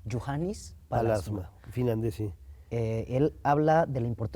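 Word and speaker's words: Juhani Pallasmaa: un arquitecto finlandés que se pronuncia, ¿cómo se pronuncia? Johannes Palasma. Juhannes Palasma, finlandés, sí.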